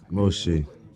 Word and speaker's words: Moshe: Do you know it's pronounced differently in all three of them? No, you got Moses, you got Musa, and you got, is it what? I think it's Moshe. That's Moshe. yeah.